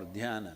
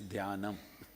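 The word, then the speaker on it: ध्यानम्: imagining meditation means dan it's dam in Sanskrit dana in southern Indian languages you ate up the last two syllables and made dan all right but you think you're correct it's all right in Sanskrit it's danam danam if you do what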